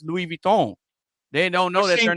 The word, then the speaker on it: Louis Vuitton: We all know we all know what Louis Vuitton is, but they don't know that it's Louis Vuitton.